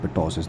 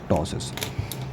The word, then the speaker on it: ptosis: This P is silent, not this is not ptosis, this is ptosis.